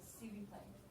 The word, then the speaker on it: s'il vous plaît: See, who, play. See who, play. Literally, this S is C mixed with eel.